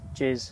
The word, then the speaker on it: Jaze: It's Jaze. Jaze. It's not Jazzy, it's and.